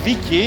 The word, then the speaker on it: Viki: It's the right pronunciation, right? Viki and Gitte.